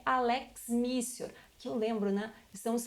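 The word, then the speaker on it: lex mitior: A segunda hipótese que nós temos aqui é a lex missior, que eu lembro, né? Estamos falando em expressões em latim, o T ele se pronuncia com o som de C.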